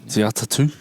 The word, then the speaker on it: Te Atatu: Te Atatu. Yeah. Great pronunciation.